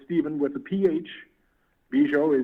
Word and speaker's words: Bujold: Bujold is Bujold, just like it's pronounced.